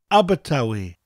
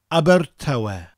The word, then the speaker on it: Abertawe: Abertawe. Abertawe. Abertawe.